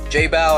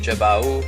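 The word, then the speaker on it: Jebao: I was gonna get the Jay bow I guess the tight pronounce it not Joe bow like I was saying it before but anyways I was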